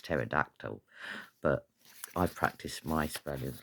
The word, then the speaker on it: pterodactyl: That's a silent P, and then I got it. It's pterodactyl.